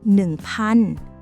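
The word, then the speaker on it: พัน: Nan.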